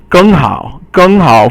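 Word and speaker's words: 更好: 更好 for example, 更 is fourth tone, and then 好 is third tone.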